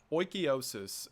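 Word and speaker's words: Oikeiosis: Oikiosis, and according to the internet, that is how it's pronounced, I looked one up this time, is closely related to ideas of Stoicism.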